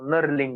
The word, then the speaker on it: knurling: Knurling. K is silent in last case. K is silent. So knurling, you have to say knurling nut.